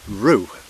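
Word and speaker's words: Rhiw: place of any size which I think is pronounced Rue I think it's spelled r h i w so it might be something like right so um the ground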